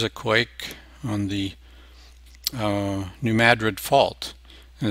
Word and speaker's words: New Madrid: quake on the uh New Madrid fault and it's not new New Madrid like Madrid Spain usually in the US names are not pronounced the same way they are in other countries like the city not